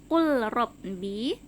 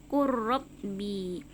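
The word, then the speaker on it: قُل رَّبِّي: Sama seperti ini tulisannya qul rabbi, tapi cara membacanya qurrabbi karena berdekatan antara makhraj huruf lam dengan makhraj huruf ro yang sama-sama keluar dari ujung lidah ya.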